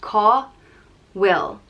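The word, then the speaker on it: cá bhfuil: means where is and it's pronounced ko will call will and call will my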